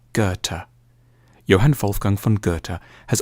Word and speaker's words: Goethe: supposed to say it a safe bet is to start with a hard G on G and end with a t Gerta Johan Wolfgang van goerta